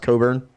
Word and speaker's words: Cockburn: They got Ayo Dosunmu and Kofi Cockburn. His last name's spelled Cockburn, but it's pronounced Coburn.